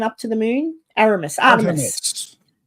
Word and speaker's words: Artemis: hadn't seen happen before, a little snippet of Artemus 2. Artemus 2. A Aramus. What, how do you say it? The spaceship that went up to the moon. Aramus. Artemis.